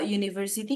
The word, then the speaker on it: university: Karena university itu cara bacanya itu university. Begini ya. University. Oke, jadi cara pengucapannya atau pronounce-nya itu dimulai dari kata Y. Karena U dalam bahasa Inggris itu kan dibacanya U ya.